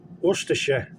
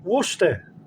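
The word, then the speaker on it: Worcestershire: wer now War sh nobody says that everyone says wer share or wer share slightly different you get away with that wor share right but if you're talking about the source wer I mean they're writing Worster on E I've never seen that before actually or never noticed it and you can just say wora wora sauce right and that's uh you know you can carry that around with you if you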